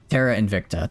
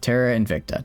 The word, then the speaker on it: Terra Invicta: I don't Why am I saying Why am I adding that extra syllable in there? Is Invictica a word? It sounds like it would be a word. Terara Invicta. Terra Invicta.